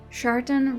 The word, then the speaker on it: Shartan: and so were we chartan rhymes with shitan an evil gene or